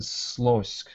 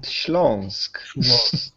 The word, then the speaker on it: Śląsk: The most famous of the state ensembles were the Mazosia and Slosk. You'll have to help me with the pronunciation. Sorry. Mazowsze and Śląsk.